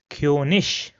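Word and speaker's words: König: But in all the other cases it is pronounced as ish. So for example this word over here will be pronounced as kish which means king.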